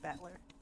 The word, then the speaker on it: Battler: It's made up of the character for fight in person and it's pronounced battler. Like battler. It's like a ship.